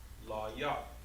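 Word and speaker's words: לוי: Levi is pronounced La Yah. Levi is pronounced La Yah, right? With just La, Yah, and then Wa.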